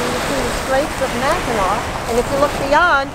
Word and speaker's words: Mackinac: But you pronounce them both, no matter how it's spelled, Mackinac.